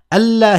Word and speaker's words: ألا: ألا here was essentially أن لا. But when you pronounce them together, they sound like ألا.